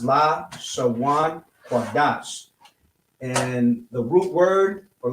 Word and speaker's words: Lashawan Qadash: is Lashawan Qadash, which if I was to spell it out for you to be able to read, I'll say in English, this is how it would be pronounced: Lashawan Qadash.